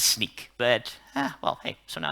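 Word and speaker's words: Snyk: can pronounce it right it's not snake who said sneak i heard it over there snake who's that sneak nobody gets the water bottle we will we will get back in that it's sneak but well hey so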